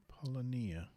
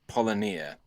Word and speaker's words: polynya: Polonia. Yeah. No. I was thinking you could Google it now. That's what I meant by putting you on the spot. Okay. It's I'll do it's that. the Antarctica Polonia, and it's spelled Polynya.